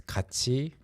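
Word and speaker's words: 같이: these two words together because kachi sounds like kachi in pronunciation but when you write it like that it means value. So together and value sound exactly the same in the Korean language.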